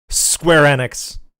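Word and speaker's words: Square Enix: Dark Side fil so square enex square enex always Square enex that's how the people from Square enex pronounce it like whenever you hear them at like press briefings they say square enex and whenever you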